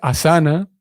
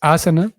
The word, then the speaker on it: asana: sientes si le llaman a saná a veces se pronuncia a saná pero en realidad de acuerdo con los entendidos en el tema la pronunciación es asana entonces tenemos un viaja